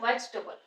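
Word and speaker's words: vegetable: ल साउंड आ जाएगी तो ये बन गया वेजटेबल वेजटेबल इसको ऐसे प्रोनाउंस कर स्ट्रेस फर्स्ट प आ रहा है वेजिटेबल नेक्स्ट इज अब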